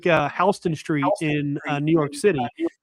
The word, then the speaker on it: Houston: It's sort of like sort of like Hston Street in New York City, right? Uh you know, people think it's Houston, like Sam Houston from Texas, but it's named